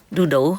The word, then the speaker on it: đu đủ: And papaya in Vietnam, they call it đu, đu đủ, huh? Đu đủ.